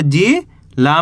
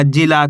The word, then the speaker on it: जिला: ऐसे नहीं पढ़ना, जिल। अगर आप जिल पढ़ दोगे तो यहाँ पे आ की मात्रा का उच्चारण नहीं होएगा, जबकि यहाँ पे ला के अंदर आ की मात्रा है तो जिला खींच के पढ़ेंगे।